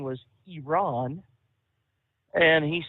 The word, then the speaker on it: Iran: he says I did not realize that correct pronunciation was Iran and he said uh you know we we